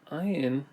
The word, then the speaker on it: ayin: Ayin is made by first making this arc and then a straight line in the middle. Ayin. Ayin is another silent letter. There's no sound to it.